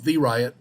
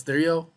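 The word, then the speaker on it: Theriot: want to call him the riot because his name looks like t-h-e-r-i-o-t but it's pronounced stereo like Cheerios almost Colin and he's called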